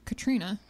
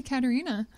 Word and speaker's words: Catarina: like fourth fifth grade I thought my name was pronounced Katrina and I just had a silent E and then oh no he's supposed to be Catarina and so I spent